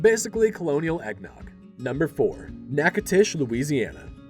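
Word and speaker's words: Natchitoches: Number four, Nacatish, Louisiana. First things first, it's pronounced Nackatish. Not whatever you were going to say.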